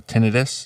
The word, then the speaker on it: tinnitus: we got a follow up from the tinnitus or tinnitus. Is that how it's pronounced? Tinnitus, yeah.